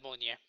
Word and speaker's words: Mjolnir: Oh my god, I can't pronounce it right. Yeah, Mjolnir.